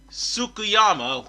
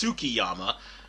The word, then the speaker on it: Tsukiyama: with the finance King tsukuyama who is actually the oh I mispronounced that it's tsukiyama who is actually the owner